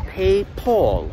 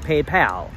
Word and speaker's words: PayPal: I don't understand why Germans call it PayPal. There is no O in that word. Where's the pole coming from?